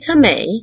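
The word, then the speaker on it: טמא: That word in Hebrew is, this is what it looks like, it's a tet, a mem, and an aleph. It's pronounced tameh, and it is most often used to mean unclean.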